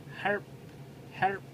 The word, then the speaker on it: help: with the house work네 아 help 발음하게 HP에서 과 p 발음이 함께 있기 때문에 발음하기가 우리나라 사람들에게 쉽지 않은데요 help 하면서 help 하면서 풀을 살짝 입안에 먹으시면 어 조금 발음하기가 편해집니다 그래서 Can you help